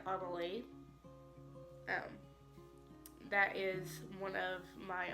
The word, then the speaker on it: Annelie: And I would pronounce it Annalie.